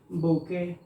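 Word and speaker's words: bouquet: तो इसको पढ़ते हैं बुके, बुके, बुके। अब आप देखिए इसको जो है बकवेट मत पढ़ दीजिए या बुकवेट मत पढ़ दीजिए, इसका उच्चारण होता है बुके।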